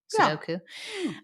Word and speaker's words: Sudoku: Sudoku? Sudoku. Yeah. Easy, medium, hard. What's that author? What's that actor's name? Which one? Jason. Sudeikis. I get real confused between all those. Sudoku. Sudoku.